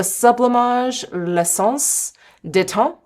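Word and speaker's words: Sublimage L'Essence de Teint: And then the sublimage leance deton that's how it's pronounced.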